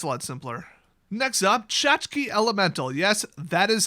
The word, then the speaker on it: Tchotchke: Next up, Tchotchke Elemental. Yes, that is how you spell that.